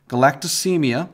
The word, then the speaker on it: galactosemia: Okay, this one is pronounced galactosemia.